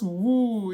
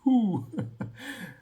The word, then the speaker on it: who: ear started tingling like, no, it's not woo, it's who. But of course, there was a journey that led me from being a chronic woo pronouncer to someone that now knows the truth in terms of how it should be pronounced, to the point where